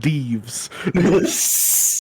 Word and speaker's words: Dives: I am Mr. Dives. It's pronounced thieves.